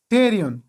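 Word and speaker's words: pterion: لکه سایکولوژي، دلته له پی نه وروسته اس راغلی ده او پی نه ده تلفظ شوی، داسې نه دی ویلي چې په سایکولوژي. بل مثال ده ټیریون، دلته له پی نه وروسته ټي راغلی او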